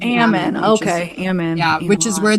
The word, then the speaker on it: Ammon: away right i actually looked coming you keep pronouncing it it's ammon so i grew up in like ammon okay yeah which is where they wanted melanie